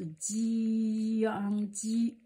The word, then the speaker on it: 姜: There is a pronunciation as jiāng, jiāng, jiāng, okay, jiāng, jiāng. The second, the first tone, and ji, jiāng, jiāng, okay.